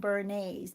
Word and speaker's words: Bernays: about a guy named bernays b-e-r-n-a-y-s sounds like bernie's sauce like hollandaise sauce but it's spelled differently b-e-r-n-a-y-s bernays he is